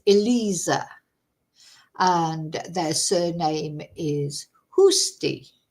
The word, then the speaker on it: Eliza: to pronounce uh because I was saying Eliza probably that's the Spanish pronunciation but it's Elisa and their surname is